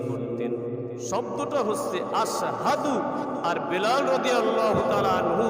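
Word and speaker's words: أشهد: উচ্চারণ করতে পারেন নাই সিনের জায়গায় তিনি সিন উচ্চারণ করতেন শব্দটা হচ্ছে আশহাদু আর বেলাল রাদিয়াল্লাহু তা'আলা আনহু উচ্চারণ করতেন আসহাদ সিন দিয়ে আশহাদু লেখা আর হযরত বেলাল রাদিয়াল্লাহু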